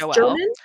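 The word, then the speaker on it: Joël: Joelle Dicker, is how they pronounce it. Okay. It's Joelle.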